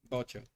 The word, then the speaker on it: Vocho: Vocho. Yeah, but you pronounce it like a B, like a hard B. Bocho.